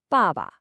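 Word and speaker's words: 爸爸: It starts high and just drops. Ba. Let's try it again. Ba. It's almost like a gentle, firm statement. The second syllable is neutral, so it's super light and unstressed. The whole word sounds like this. Baba.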